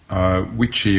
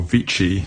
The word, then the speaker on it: Witschi: how I calibrate my witchy or vici to pronounce it in the the German way watch timing machine this